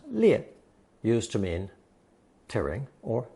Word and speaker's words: 裂: Today's fifth character places the character 裂 above the clothing radical, thus inventing another character pronounced 裂, used to mean tearing or splitting.